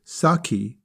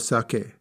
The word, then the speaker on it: sake: rice wine they may incorrectly say saki instead of sake if they were to